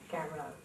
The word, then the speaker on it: Garreau: The son of Belgian immigrants who came to Arkansas in 1906 was christened Leon Joseph Garreau. Correctly pronounced Garreau, but Americanized to Garreau.